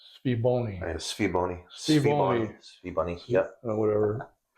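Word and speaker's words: SVBONY: This is a SV Boni. Mm-hmm. I think it's actually pronounced Sviboni.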